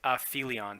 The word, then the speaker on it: Aphelion: cover off is a fee Leon and it's pronounced a fee Leon so what is an aphelion it's actually a